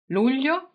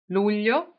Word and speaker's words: luglio: Luglio in Italia. Luglio in Italia. You may have some problems pronouncing it, but July is called luglio.